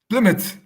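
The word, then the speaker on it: Plymouth: Mark okay uh drum roll correct answer is plmouth that's how you pronounce it right pouth yeah pouth yeah f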